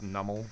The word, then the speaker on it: Numel: We got Spiritomb, Reverse Numel, or Nummel. I think it's pronounced Nummel. I think Pokemon Company came forward and was like, hey guys, it's Nummel, and Munna is not Munna, is Munna.